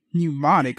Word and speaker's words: Mnemonic: Mnemonic. Okay, Johnny Mnemonic. The M is silent.